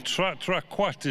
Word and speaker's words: Quatre: Well, number one, Quatre is the way it's pronounced.